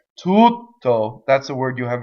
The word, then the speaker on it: tutto: So the space makes the expression, not the consonant itself. Tutto.